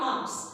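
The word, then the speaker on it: alms: एल is silent in आर्म्स।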